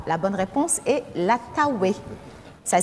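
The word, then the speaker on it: Taouey: à Marie amaba la bonne réponse est la tawé ça s'écrit t a o u e y quelle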